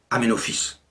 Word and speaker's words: Amenhotep: En 1936 et encore actuellement, le nom d'Amenophis, fils de Apou, s'écrit en hiéroglyphe Amenhotep, mais il se prononce Amenophis.